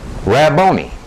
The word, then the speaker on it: Rabboni: In Matthew, it is Rabboni.